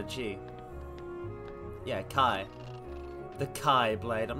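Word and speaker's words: χ-blade: a Keyblade and a Keyblade. No. I mean the Keyblade as in X-Blade, but it's pronounced Key, because Nomura is a madman. Chi, exactly. The Greek letter Chi. Yeah, Kai. The Kai Blade.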